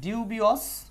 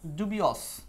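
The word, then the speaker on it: dubious: সো এইটার synonym হচ্ছে এই যে এই শব্দটা এটার আবার দুইটা উচ্চারণ আছে। ডিউবিয়স ডিউবিয়স অথবা ডুবিয়স।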